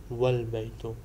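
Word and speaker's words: والبيت: So wa al baytu is pronounced wal baytu.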